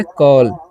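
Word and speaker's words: call: जैसे में अगर रहेगा सी ए डबल एल तो इसे हम क्या पढ़ेंगे? इसे पढ़ेंगे कॉल। ठीक है? याद रखना है। यानी कि ए के बाद दो कोसोनेंट रहेगा तो उसका औ होता है।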